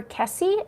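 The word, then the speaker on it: Kesse: Daring D's Dauntless Detours, I love that name, says, please do Jennifer Kessie. Is that the name? Kessie is how you pronounce it.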